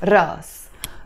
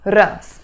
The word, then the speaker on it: راس: is a hamza but in Lebanese Arabic we drop that Hamza sound and we just pronounce it Russ Russ the first expression that